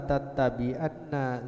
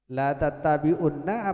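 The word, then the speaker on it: لَتَتَّبِعُنَّ: sallallahu alaihi wasallam qala la tattabi'unna. Ini saya tadi salah membacanya. La tattabi'unna apa la tattabi'anna? Ini agak sulit ini. Ayo dijawab. La tattabi'unna apa la tattabi'anna? Karena sudah ada harokatnya la tattabi'unna.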